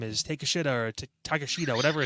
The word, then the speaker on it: Takeshita: It's Takeshita. Okay, that's what it was. It's Takeshita. I remember it, but it's spelled. I can't even I can't mess with you guys. Take a shita is what it spells out.